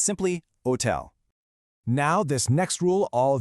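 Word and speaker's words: hôtel: So when you see a word like hotel, your brain screams hotel. But you just have to pretend that H is totally invisible. It's simply hotel.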